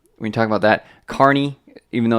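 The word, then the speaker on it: Kearney: you talk about that Carney even though it's spelled Kerney it's spelled Carney like the circus Carney I don't know if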